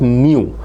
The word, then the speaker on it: nu: Now uh it is written as NU but it is pronounced as new.